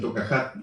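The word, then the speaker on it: תוכחת: correcciones rectificar las equivocaciones que en hebreo se llama toca hat se pronuncia en tocat en hebreo que significa corrección significa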